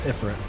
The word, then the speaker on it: Ifrit: Also, I always said Ifrit, and I kind of feel weird having to say Ifrit because that's how they pronounce it in this game. It's probably the more correct pronunciation.